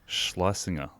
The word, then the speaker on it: Schlesinger: She does a lot of, she has, I'm trying to like, it's pronounced Schlesinger.